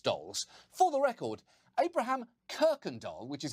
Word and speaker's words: Kuykendall: him bragging about being a descendant of Abraham cookendall not only does that last name sound like the Swedish translation for Bratz dolls for the record Abraham Kirkendall which is how it's actually pronounced was one